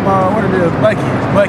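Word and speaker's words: Buckeye: My name, what it is, Bucky, but it's spelled B-U-C-K-E-Y-E, you know, man, so shit. The last E silent on that bit, man, I'm Bucky, man.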